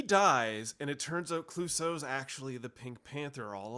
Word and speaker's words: Clouseau: would say it's Jacques Cousteau. Yeah, Jacques Clouseau. Jacques. I'm saying his name wrong. It's Clouseau. Clouseau.